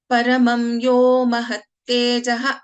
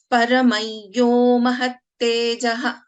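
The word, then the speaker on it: परमं यो महातेजाः: So in this case, paramam yo mahattejaha is one way of pronouncing. So what with the rule, how we pronounce is paramayyo mahattejaha. So whenever there is anuswara followed by ya, so we pronounce this differently.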